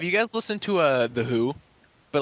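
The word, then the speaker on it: The HU: think you'd like them the band is called the who but who is spelled hu it's not like the who WH o the band it's the who hu the band and it's it's a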